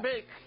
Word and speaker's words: Belk: ¿Cómo se pronuncia? Belk.